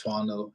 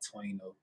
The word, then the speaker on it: Twano: Oh, and for y'all that don't know, I pronounce my stage name. If you would call this a stage name, it's Twano and not Twano.